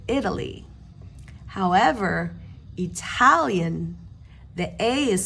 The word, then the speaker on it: Italy: is Italy Italy because the a in Italy is not stressed so we pronounce it Italy however Italian the a